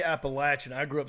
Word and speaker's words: Appalachian: that's not how they pronounce it that school pronounces it Appalachian yeah right go to Appalachians State and call it appellation they will laugh your ass off the mountain